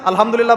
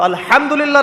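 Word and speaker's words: الحمد لله: তো আলহামদুলিল্লাহ না বলে সে বলেছে আলহামদুলিল্লাহ ওই যে হা এর উচ্চারণ পরিবর্তন হয়ে গেছে এই কারণে অর্থ পরিবর্তন হয়ে দাঁড়াবে যে সমস্ত নিন্দা আল্লাহর জন্যে যিনি জগৎসমূহের রব আমার কথা কি বুঝতে পারছেন শুধু হা এর মাখরাজ ভুল হওয়ার কারণে এই সমস্যা হল তাই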